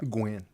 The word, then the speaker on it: Guin: pronounce your last name is it Gwen that's right Gwen you can't say Gwen well the way it's spelled it's spelled g u i n and so I was like that could be a lot of different things yeah oh